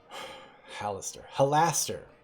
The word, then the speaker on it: Halaster: think i think my hallister character is just halston uh let's see halaster halaster i'm not i'm never going to pronounce it halaster i'm going to be pronouncing hallister forever um yeah so anyway